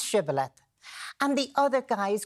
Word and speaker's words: shibboleth: them, they said, pronounce shibboleth. And the other guys couldn't pronounce the H sound, so they said, sibboleth, bang, they were massacred.